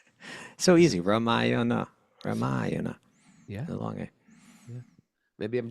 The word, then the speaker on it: Ramayana: Ramayana.